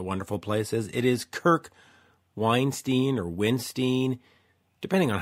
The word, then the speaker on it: Windstein: Well, the correct pronunciation is Windstein, but you know, if you really want to dress him properly, you call him the Riff Lord or the Beard of Doom. Those are just as acceptable as Windstein, Winstein.